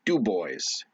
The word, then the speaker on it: DuBois: pennsylvania um right above that is dubois or dubois or i mean like d-u-b-o-i-s um and then everybody says do boys do boys everybody in that town you driving through and listening to the radio like come on down do boys something or other it's